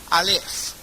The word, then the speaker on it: Aleph: Es como así, Aleph. Se parece mucho a alfa.